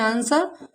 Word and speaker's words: answer: For example ANSWER, S के बाद यहाँ W आया है तो हमारा W क्या है बेटा, साइलेंट। इसे पढ़ते हैं आंसर शॉर्ट।